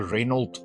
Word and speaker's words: Renault: In South Africa, we get a car called a Reynold Quidd or a Renault Quidd. Depends on where you are in the in the world and how you pronounce Renault. Um, we say Reynold.